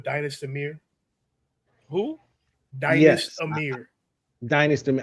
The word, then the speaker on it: Dynasty: His name is Dynast, but it's spelled like Dynasty. Okay, cool. So without the I guess the Y.